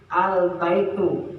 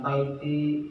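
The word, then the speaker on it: البيتُ: berbentuk ciri Isim ya Jadi dibacanya tidak boleh tanwin harus domah ingat setelah ada di depannya ada alif lam itu dibacanya harus Rah hujumnya harakat n harus rumah ya jadi albaitu nah itu yang betul bacanya Ya albait bukan Baiti bukan bukan baitun bukan Ah ini albaitu nirahnya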